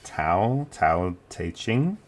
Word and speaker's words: Tao Te Ching: Now, like I said, there's a few different pronunciations of how to say it. Some people say Tao Te Ching. I'm going to go with the alternative pronunciation Tao Te Ching, or sometimes I'll just say Tao.